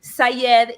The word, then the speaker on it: Saied: So Shamile is an Arabic name pronounced with an Argentine accent. We say the Y like an SH. And then Sayed is my maiden name, which is Arabic.